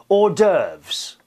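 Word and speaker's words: hors d'oeuvres: with food isn't it he says it's pronounced or derves I think you're probably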